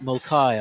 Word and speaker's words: Mulcahy: So actually, it's Mulcahy, I've been told the pronunciation.